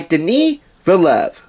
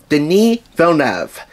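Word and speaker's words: Denis Villeneuve: Hugh Jackman and Jake Gilling Hall directed by Deni vov den vov and yes I took Extra Care I would pronounce his name right at least the second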